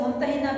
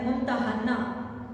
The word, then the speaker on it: ممتحنہ: ممتحنہ رکھا گیا، اور اس کا تلفظ ممتحنہ بھی اس کو کہا جاتا ہے، ممتحنہ، ٹھیک ہے، اس کے تلفظ میں اس کو ممتحنہ بھی کہا جاتا ہے اور ممتحنہ بھی